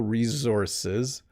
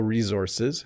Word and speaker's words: resources: Definitely sounds like a Z, doesn't it?